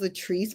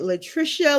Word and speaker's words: Latrice: people's name right because my name is Latrice but I get Latricia, Lishrica, Lacricia. I get I get it all.